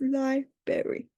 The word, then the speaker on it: library: This is also confusing because of the R after the B. So people could think they have to pronounce it, but it's library.